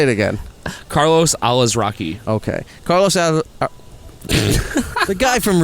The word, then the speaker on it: Carlos Alazraqui: I believe it's Carlos Alazraqui. Alazraqui? That's how I'm pronouncing Instead it. of Alazarqui? Yeah, because that's not how it's spelled. Okay. So, say it again. Carlos Alazraqui.